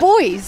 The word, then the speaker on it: buoys: Crabs, cataquacks, semi-submerged rocks, sand castles, deck chairs, buoys, coconuts, sailing boats. It's got it all. You say buoys? It's boys. It's how Americans say it.